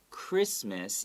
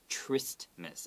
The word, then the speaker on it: Christmas: so here this christmas even though it starts with ch it's not tryst miss okay it's christmas so we ignore the h also we ignore the t okay so christmas okay you don't have to go christmas okay and what do we